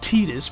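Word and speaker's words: Tidus: you'll probably know here we have Titus or as the game pronounces him tetus but I will not be calling him tetus over here we have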